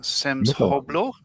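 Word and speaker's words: სამშობლო: The word on the side of the vehicle is pronounced Samshoblo, meaning homeland or motherland in Georgian.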